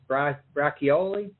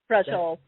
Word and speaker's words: braciole: I so miss my grandmother's braccioli. Braciole. Braciole, okay.